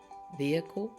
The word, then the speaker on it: vehicle: say veh vehicle and you don't hear the H vehicle it's usually silent but then look at